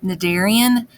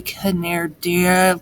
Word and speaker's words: cnidarian: to notice is that the word nadarian please notice that the c is silent so just pretend that it's not there and i'm gonna explain why it's called that in just a second so we're not going to say kaner dear just it's naderia okay